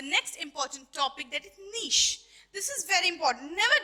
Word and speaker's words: niche: to teach you about Niche what is this not Nik it is nich it is called as nich and it actual pronunciation n okay clear now let's